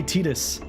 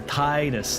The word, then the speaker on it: Titus: How'd you pronounce Titus? Titus. I don't say Tetus. There's an I there. Titus.